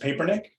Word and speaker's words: Papernick: I do blame Colin Kaepernick for this, but my name is pronounced Papernick. With the advent of Colin Kaepernick as a cultural figure, I've become Papernick more and more and more.